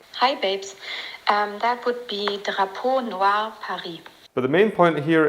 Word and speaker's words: Drapeau Noir Paris: me, then we can find out how we pronounce it. Hi babes, that would be Drapeau Noir Paris.